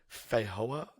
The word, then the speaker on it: feijoa: Feijoa is the fruit, or feijoa, as Chris is just assuming. How do we Google what? How do we find out the actual thing? Google pronounce. Feijoa pronunciation. Here we go. It's feijoa.